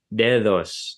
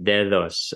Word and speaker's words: dedos: For example, if you take Spanish, what would have been an underlying form dedos, the way it's pronounced in Spanish is dedos as a fricative, dedos, and I don't have the IPA character ready, so I'm just gonna use a capital D.